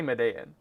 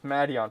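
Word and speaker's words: Madeon: I've gone nearly my entire life pronouncing uh was it Madon as Man? And I still say Madean, but it's it's Madon from my understanding.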